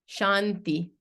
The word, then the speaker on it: Shanti: it sorry did I Shanti the t is soft here now there's four types